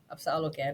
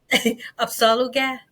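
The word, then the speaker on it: Apsáalooke: It's Apsaluga Nation.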